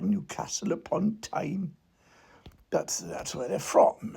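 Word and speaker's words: Newcastle upon Tyne: people who come from Newcastle pontine apparently you have to pronounce it like that Newcastle upon time that's that's where they're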